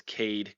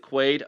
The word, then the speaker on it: Quaid: Um unless it's Cade Carr, I guess probably how he actually pronounced it. I think it's Quaid. Is it Quaid? Okay. Yeah, Quaid Carr.